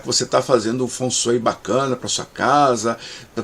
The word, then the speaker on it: Feng Shui: Geralmente falado por aí como o Feng Shui, mas Feng Shui ou Feng Shui em mandarim é que são as pronúncias mais adequadas.